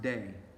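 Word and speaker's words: δεῖ: bit it is necessary there's a verb it's pronounced day it's the verb of divine necessity and what this verb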